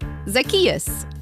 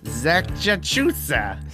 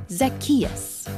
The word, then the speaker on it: Zacchaeus: Zacchaeus. Zachachusa. No. Zazachino. What? No, it's like Zach. Just say it after me. Zacchaeus.